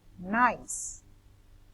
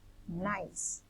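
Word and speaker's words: gneiss: you pronounce this word nice nice this is silent g then we have the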